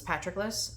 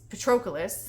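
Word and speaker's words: Patroclus: me in the pronunciation he says it's patrickus and I'm like I think that's just because it's your name and you want it to be patrickus it's petris is how it's pronounced Petrus or Petrus because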